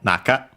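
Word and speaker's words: 中: Um but yes here simply uh back and then we would have naka actually uh on its own accented on the na. So on the first syllable naka usually means inside interior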